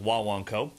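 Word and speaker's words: Guaguancó: boy I'm excited today because we're doing the wah wah Co I know that it's spelled Gua Gua co but it's pronounced Wan CO and it is without a doubt one of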